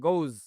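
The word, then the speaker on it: goes: গোজ এই উচ্চারণটা হবে।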